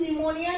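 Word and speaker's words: pneumonia: तो इसमें क्या है, पी और एन का कॉम्बिनेशन है, और यहाँ पे भी क्या है, पी जो है साइलेंट है, ओके।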